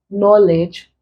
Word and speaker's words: knowledge: here we have consider knowledge kick and take obviously the sound is common but it's not present here because the K here is silent so the sound is